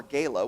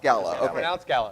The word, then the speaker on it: Gala: though about the playhouse mer said Gala or Gaya whichever you prefer to talk it's pronounced Gala G I just wanted to make sure which